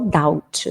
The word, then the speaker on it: doubt: Debts. Esse B não é pronunciado. Acumular dívidas. To accumulate debts. Debts, ok? Não pronuncia o B. É igual doubt, dúvida. Tem um B, mas não fala o B.